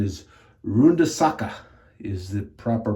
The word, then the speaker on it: Runde Sache: I'm very, very impressed with and I think I called it Runde Sache. I think the proper pronunciation is Runde Sache is the proper pronunciation.